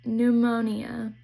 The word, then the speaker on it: pneumonia: Another one is pn says mm. P is silent like in pneumonia.